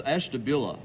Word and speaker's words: Ashtabula: Hank Stein from Esther bruegger how do you say that it's Ashtabula Ashtabula what do you